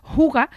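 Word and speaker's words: hygge: con mucha necesidad que en la palabra xix escrita con y y con dos es aparecer se pronuncia jugar que es un concepto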